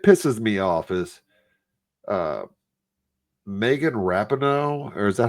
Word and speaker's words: Rapinoe: But the thing that like it pisses me off is Megan Rapinoe, or is that how you say her name? Rapinoe.